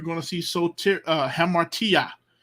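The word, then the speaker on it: ἁμαρτία: to see so uh hamartia it's a h because there's a rough breathing I don't know if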